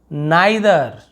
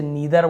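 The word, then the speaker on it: neither: नाइदर, इसे नीदर बोलते हैं ना, नाइदर।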